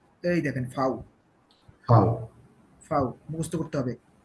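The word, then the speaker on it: Vau: কু, কু, এর পারবেন, এস পারবেন, টে পারবেন, কু পারবেন, ভে, এই যে এই দেখেন ফাউ, ফাও।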